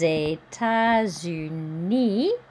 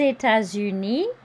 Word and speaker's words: États-Unis: Here we have liaison. Des États-Unis. Don't pronounce the S. That's the same U as up above in several places. Des États-Unis d'Amérique.